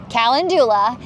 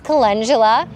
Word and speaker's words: calendula: and grew this flower, I used to call it calendula, and now I know it's calendula. And so my kids make fun of me because I say it wrong.